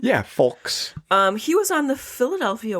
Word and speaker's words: Fulks: Yeah, Fulks.